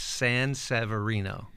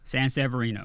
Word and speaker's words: Sanseverino: It's actually phonetically perfect. Correct. It's Sanseverino. Sanseverino. There it is.